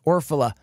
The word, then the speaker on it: Orfalea: Twitter and on YouTube and it's orala that's how you say it's a silent e now you know that's